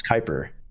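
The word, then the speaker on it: Kuiper: I might not be pronouncing it correctly, but you are not. It's Kyper. Kyper. Yeah, it's the Kyper belt.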